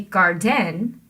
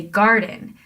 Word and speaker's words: garden: You don't say garden, that doesn't sound right. You say garden. That means we're putting the stress on gar and the unstressed syllable on din.